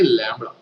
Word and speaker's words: lambda: फॉर a pair of linear equations, linear word use नहीं किया लेकिन लीनियर इक्वेशंस, इसको प्रोनाउंस करते हैं लैम्बडा, ओके, लैम्बडा।